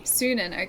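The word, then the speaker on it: Sýnin: Sunan, okay, that's how you say it.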